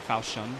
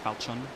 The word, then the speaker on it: Falchion: And we're using the Falchion pronunciation Falchion. for this one. Falchion. Not Falchion. It's Falchion.